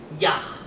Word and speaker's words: Yah: el Dios de Israel, Yah, así lo pronunciaría un judío, ¿no?